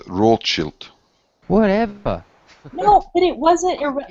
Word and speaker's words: Rothschild: Well, they that the name should be pronounced rochilt.